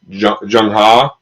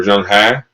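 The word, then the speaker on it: Zheng He: Unit 2 side, is this gentleman, Zheng Ha, or Zheng Ha. There's kind of multiple pronunciations.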